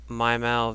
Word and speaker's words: Mimal: is called Chef my video uh I say my and you'll see why I pronounce it that way U to learn neonic